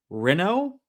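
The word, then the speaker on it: Renaud: Renode is a French name. You pronounce it like Renault. Renault.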